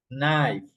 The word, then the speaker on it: knife: In these words, in these words, you don't pronounce the K. No. So you say knack. You pronounce from the second letter. No. Knock. Need. Knee. No. Knife.